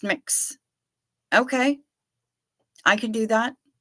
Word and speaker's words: Mx: anybody to feel like they're uncomfortable or unwelcome pronounced mix okay I can do that I can do